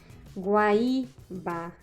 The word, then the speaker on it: Guaíba: Guaíba, guaíra são paroxítonas, porque suas sílabas tônicas são as penúltimas.